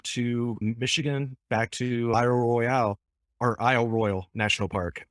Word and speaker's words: Royale: which one is it is it royal or royale it's it's royal and for years i i kept on calling it royale and then yeah going up there i'm like oh i've been saying it wrong for 10 plus years oh my is this